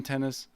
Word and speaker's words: Tennis: Hi, my name is Tennis, pronounced just like the game tennis, and I own and run my own travel agency.